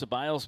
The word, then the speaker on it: Ceballos: So Chris Ceballos base coaching at first base, and it took me all season, but I pronounced his name right the last couple games. Ceballos.